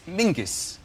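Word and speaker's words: Menzies: his name is very odd his name is Mingus Mingus yes SC yeah Ming yeah but it's pronounced it's it's spelled m n z i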